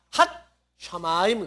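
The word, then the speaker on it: הַשָּׁמַיִם: 하 샤마인 근데 여기 가운데 하나 점 찍어졌죠 요게 또 하나 붙었다 그 말이 발음이 그래서요 시옷이 하 밑에가 붙으니까 뭐가 돼 버려요 핫 샤마임 그래요 핫 샤마임 그다음에에 그리고 앤드죠 영어에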